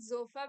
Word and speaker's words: Sofa: so it's the not sofa but zofa because you know we pronounce the S as Z there a slight Z